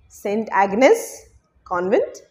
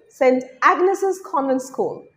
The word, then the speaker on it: St. Agnes's Convent School: School number 4, St. Agnes Convent, na. Right way to say that is St. Agnes's Convent School, St.